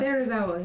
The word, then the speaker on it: Serizawa: Serizawa.